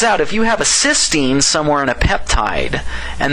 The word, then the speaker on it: cysteine: uh just an i i frankly don't know if i can honestly pronounce these two words differently i've heard some people say cystine and cysteine i don't know that's just too subtle for me to be able to figure out maybe you guys